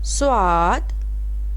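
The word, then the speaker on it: صاد: Swad, swad, SWAD, swad. Swad is start for English letter S.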